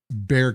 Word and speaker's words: Bexar: Like we we move when we first moved here, the county that we were in is called uh Bear County, but they spell it B X A R.